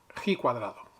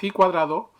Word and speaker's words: ji cuadrado: y sumamos a este estadístico se le llama he cuadrado porque esa letra que aparece es una letra